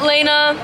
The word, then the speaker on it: Lena: Got Melody by Lena, pronounced Lena.